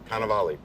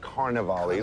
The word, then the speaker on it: Cannavale: Yeah, Cannavale. yeah, that's what I said. Cannavale. It's not Cannavale, it's not Carnivale, there's no R.